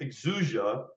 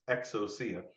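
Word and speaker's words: ἐξουσία: have heard someone say hey the Greek word exuzia means power but that's not actually true if you click the speaker you'll hear uh the person pronounce it correctly and it's exocia so that does it really matter in your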